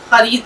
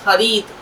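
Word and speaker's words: ख़रीद: उसने ये अजीब गेहूं देखा तो एक पैसे में उनसे खरीद लिया। अब देखिए सही उच्चारण होता है खरीद, खरीद नहीं होता।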